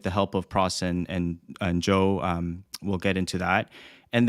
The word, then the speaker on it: Zhou: And one of the reasons why, and it is, yes, Harry, pronounced Zhou.